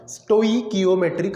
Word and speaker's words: stoichiometric: Chemical reactions and स्टोइकियोमेट्रिक calculations, उसका pronunciation थोड़ा सा अच्छे से करना, स्टोइकियोमेट्रिक कैलकुलेशंस। ठीक है, तो केमिकल रिएक्शंस के बारे में आप क्या जानते हो अच्छे से?